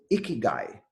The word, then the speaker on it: ikigai: Japanese concept it's called a key guy the way it is pronounced is a key and guy what does that mean